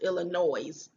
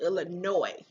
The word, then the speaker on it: Illinois: e that's not how it's pronounced it's not pronounced illinois it's pronounced illinois because i think that word is of a